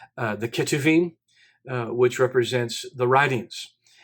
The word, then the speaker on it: Ketuvim: then you have the the ch or really pronounced like a k uh the ketuvim uh which represents the